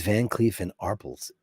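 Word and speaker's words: Van Cleef & Arpels: It is Van Cleef and Arpels. That's the correct pronunciation.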